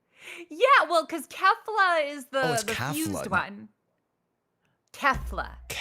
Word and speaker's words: Kefla: Is it Kaulifa? How do you pronounce it? It's Kale. I'm the other one. Wait, you're only Kale? Yeah. Well, cuz Kefla is the one.